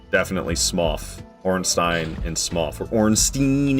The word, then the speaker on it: Smough: And that's why it's definitely Smough.